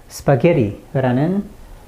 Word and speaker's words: 스파게티: 예를 들어 세 번째 음절에 강세가 있는 스파게티라는 단어를 조금 다르게 발음하더라도 의미가 전달되는 데는 전혀 지장이 없습니다. 강세가 있는 세 번째 음절인 바로 여기 부분 게 부분만 분명히 강세를 넣는다면 스파게티, 스타게티, 파스게티 이렇게